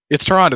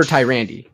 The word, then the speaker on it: Tyrande: botched pronunciation by turd it's toronto that's what i've always called okay well i call her tyrande so toronto my love